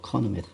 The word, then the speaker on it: chronomètre: Alors CH ne se prononce pas ch. ما كنقراش ch, on dit kr. Alors chronomètre.